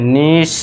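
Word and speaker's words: niche: जब किसी शब्द में आई ई आए तो आई ई को आपको लॉन्ग ई से साउंड देना है। लॉन्ग ई जैसे कि एग्जांपल देखिए आई ई आ गया तो इसे पढ़ेंगे हम लॉन्ग ई से तो इसे पढ़ेंगे फ इल ड फील्ड न ई से निश ठीक है दोस्तों फील्ड नीश आपको बड़ी ई की साउंड देनी है।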